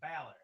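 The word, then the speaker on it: Bálor: It is not like the university. It's not Balor. I know. There's no Y, anyways. I know. That's what I'm saying. And with an accent on the A, Yeah. That. So you're wrong for many reasons. I always want to say Balor though, like Balor. It's Balor. Yeah. Like Valor.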